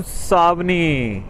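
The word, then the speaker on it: Seoni: पता नहीं इंग्लिश में एस इ ओ एन आई क्यों लिखा हुआ है। जब सावनी ही बोलते हैं तो हिंदी में भी सावनी है। स्पेलिंग ही गलत है इंग्लिश में।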